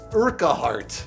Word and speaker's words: Urquhart: So Obsidian CEO Fergus Urquhart.